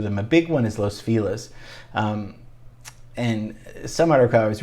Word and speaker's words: Los Feliz: We say Los Feliz for some reason. So when you hear Los Feliz, maybe it's a newcomer that means well, but we just don't play that game.